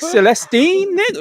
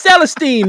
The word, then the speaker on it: Celestine: before cuz he put He put emphasis on the wrong syllables on every damn her name I'm like Stine what it's Celestine man jeez what's wrong with